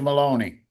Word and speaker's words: Maloney: the first uh judge Maloney of course rhymes with baloney yeahi Rick you didn't